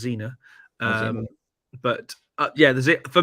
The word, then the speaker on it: Zener: love it uh the the zener is I believe pronounced Xena um but uh yeah